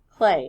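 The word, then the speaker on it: Klee: it would be pronounced cle but it is pronounced clay and this is one of his more famous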